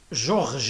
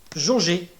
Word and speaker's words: jauger: verbe georget eh bien il s'agit d'un problème d'audition qui conditionne ou qui occasionne une erreur de prononciation on ajoutons le r le r hélas une lettre intrusive au lieu de georges et donc on va dire pour corriger jauger c'est à dire mesurer